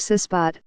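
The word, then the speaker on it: CISBOT: the matter-of-fact named suspect pronounced sis pot for cast-iron sealing robot as the acronym suggests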